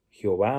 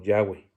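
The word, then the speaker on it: Yahweh: kyrios no hay otro señor tomás que jehová o mejor pronunciado como ya away con jesucristo sí porque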